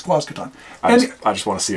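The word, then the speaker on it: Quasqueton: It's Quazcaton.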